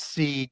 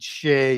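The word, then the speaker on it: Sidhe: of the Shea painting, which is spelled S-I-D-H-E, pronounced Seed, Shea, Sedais, a whole bunch of different ways.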